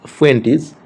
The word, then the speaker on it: Fuentes: The pronunciation of this surname is Fuentes.